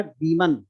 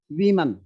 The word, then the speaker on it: women: तो जब plural word होता है तो इसको अपन, इसका प्रोनाउंसिएशन होता है वीमन। क्या होता है? वीमन। लेकिन जब ये सिंगुलर होता है WOMN तो फिर इसको पढ़ते हैं अपन वुमन।